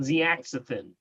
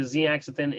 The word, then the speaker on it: zeaxanthin: And there's another one called zeaxanthin. Zeaxanthin. Okay, let me spell that for you.